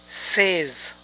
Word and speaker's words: says: ¿Y cómo se pronuncia ella dice? Probablemente diríamos, she says. Pero esta pronunciación es incorrecta. Es she says. She says. Tú dijiste.